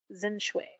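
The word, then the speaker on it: Xin Zhui: was the story of sin shui and it's spelled z-i-n no x-i-n and then z-h-u-i so zen-shui finish way sounds like she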